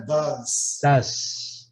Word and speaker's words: does: E a pronúncia é das.